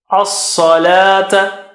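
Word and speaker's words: الصلاة: As-Salata. As-Salata. Sa is very high and thick. Very thick and high. And la is back.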